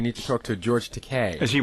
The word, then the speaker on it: Takei: George Teay is It's Teai, by the way. No, it's Teay. Is it rhymes with Okay.